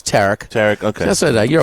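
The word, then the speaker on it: Tarik: Skenes with his Tarek or Tariq? Tariq, huh? It's Tarek.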